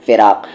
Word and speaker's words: فراق: خا بولنا ہے خوب، اور یہاں پر فراق پہ کہ فراق میں قا بولنا ہے، فراق.